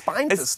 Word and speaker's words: spinetist: How do I pronounce that word, spinetist, spintist? What is it? Spinetist.